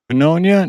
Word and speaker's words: pneumonia: It's the worst when it starts with a silent letter.